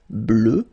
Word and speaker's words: bleue: Phonetically it doesn't exist because you don't pronounce it, so you get bleu as you would get for the masculine form, okay?